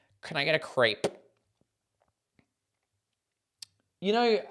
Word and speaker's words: crepe: ambiguous so that's why they call it a crepe as if it was spelled c r a y p uh Muna coconut same